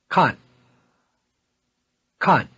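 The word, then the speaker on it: 看看: verb to look at khan khan the same verb reduplicated means to look around or to have a look we duplicated verbs are toneless on the second syllable repeat to have a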